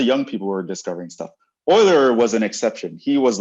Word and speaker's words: Euler: biology friends are probably going to call this euler they don't know what they're talking about his name is pronounced euler he's swiss right um so um this guy